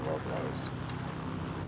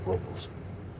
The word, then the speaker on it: Paso Robles: I'm actually going to Paso Robles. They call it Paso Robles, Well, the correct pronunciation is Robles. but they call it Robles.